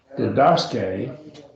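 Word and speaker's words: διδάσκει: So didaske, right?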